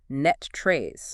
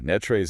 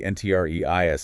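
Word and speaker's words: NTREIS: way for anyone new to the area is pronounced locally as Net Trace. Oh yeah. Netrays is definitely the subtle shibth for anyone operating in the North Texas real estate ecosystem.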